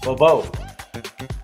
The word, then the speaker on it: Beauvoir: Beauvoir.